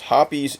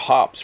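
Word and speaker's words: Hoppe's: of the samples with hoppies number n bore solvent for 60 seconds yes hoppies is the correct pronunciation guys I called it hops for years but I was wrong anyway all samples held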